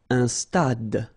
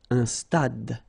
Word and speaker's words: stade: Un stade. Same thing here. Final E is not pronounced. Un stade.